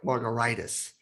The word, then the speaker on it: Margaritis: It's pronounced like a cocktail, but spelled like an inflammation. Should be pronounced like margaritis, which is like hepatitis, gingivitis, and laryngitis.